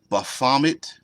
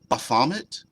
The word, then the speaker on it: Baphomet: Baphomet? That's what I said. Or Baphomet. Oh, that I placed the wrong emphasis in the improper syllable.